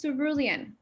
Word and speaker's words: cerulean: is our word of the day it is pronounced cerulean cerulean is a range of colors from teal blue